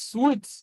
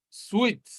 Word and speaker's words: suite: But here is sweet. Now, a suite is a room or a set of rooms in a hotel. So, suite.